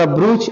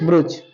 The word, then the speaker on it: brooch: To show her द ब्रूच और something which stuck out. ब्रूच लिखो तो मीनिंग BROOCH, BROOCH, ब्रूच। इसको पढ़ेंगे, शुद्ध उच्चारण होगा ब्रोच। क्या पढ़ेंगे? ऊ मात्रा नहीं, ओ करना है, ब्रोच, ब्रोच।